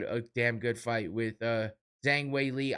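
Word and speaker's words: Zhang Weili: I kept saying Wei Li Zhang because that's the way they said it in the beginning. I guess somebody corrected the UFC and said no, actually Zhang Wei Li. That's how you say it from where she's from in China or whatnot.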